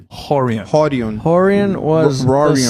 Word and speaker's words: Rorion: Sorry, Rorion was in Brazil, we pronounce it Horion.